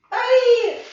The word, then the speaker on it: œil: Tu as entendu œil? Œil. Ah bah oui, œil comme l'œil. Mais bon, ça s'écrit pas pareil. Œil. Alors, on entend E. On entend le E. Œil. Voilà, œil comme un écureuil.